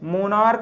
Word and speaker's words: monarch: इसी तरह दूसरा MONARCH, मोनार्क मीन्स होता है तानाशाह या निष्ठुर, है ना, हठी आदमी, जिद्दी। तो MONARCH, मोनार्क, इसको भी का पढ़ते हैं, CH को का, तो मोनार्क, तो CH को क्या पढ़ा, का।